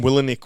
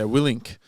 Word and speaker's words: Willink: I called him Willinick once, and someone told me off.